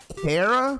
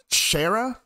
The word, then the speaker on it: Chara: I'd say it's Kara because, like, character, Kara, character. Because some people say Shara. And I don't think Shara is the correct pronunciation.